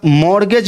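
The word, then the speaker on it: mortgage: long term वाला bank loan अच्छा मॉर्गेज loan इसके बारे में भी आप समझ ही लो मॉर्गेज loan मॉर्गेज loan मोरगेज T silent है इसमें टी साइलेंट है इसको बोलते हैं मॉर्गेज लोन इसको हिंदी में बोलते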